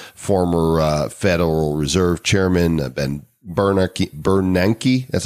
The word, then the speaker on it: Bernanke: hedge fund managers, former Federal Reserve Chairman, Ben Bernanke, that's how you pronounce it, right?